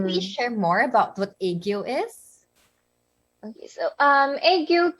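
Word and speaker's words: 애교: So, could you please share more about what Aegyo is? Okay, so egg yolk cakes. So it's actually pronounced egg and then yo.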